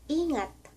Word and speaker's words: Ingat: Tagalog sasabihin mo ay Ingat Ingat Ito ay letrang i pero pino-pronounce namin ito ng na e Ingat I ngat Take care Kung ibig mong sabihin ay You take care,ok?